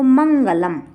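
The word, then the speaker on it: मंगलम्: इसी तरह से माँ के बाद गा वर्ण आया है, इसलिए हम इसका उच्चारण ना करेंगे, और ला के बाद कोई वर्ण नहीं आया है, ये लास्ट ही वर्ण है, इसलिए इसका उच्चारण हम माँ करेंगे।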